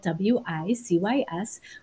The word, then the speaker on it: WiCyS: We often go by our acronym, WiCyS, and it's spelled W-I-C-Y-S. We pronounce it WiCyS, like we sisters, because that's exactly what we are.